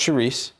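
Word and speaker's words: chouriço: diced 12 ounces of cherise it is pronounced charisse it's a fall river thing just trust me once the kale is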